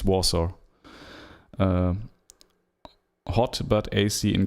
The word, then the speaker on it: Warsaw: driving to wash washout warso warsaw i'm not sure how to pronounce vasho in english i think it's warsaw uh hot but ac